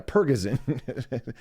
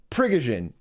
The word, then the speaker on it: Prigozhin: Yeah, Pergazin. But it's not pronounced like that. Where's his fucking... his fucking... Oh, here it is. Here it is. Look at this. Yeah. Prigozhin.